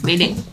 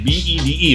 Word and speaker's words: Bede: Bede, panggil aja Bede. Bede. Oh, like how you spell it? B-E-D-E, right?